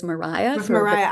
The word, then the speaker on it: Maria: So even what we would see as Maria was Mariah With for a very Mariah. I noticed that with like Mariah Edgeworth.